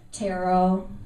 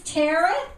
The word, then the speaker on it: tarot: I know people really don't get tarot. I know somebody's kind of clueless when they come up to me and say, so what exactly is tarot? Yeah. When it sounds like carrot rhymes with carrot, I know I'm going to have a problem.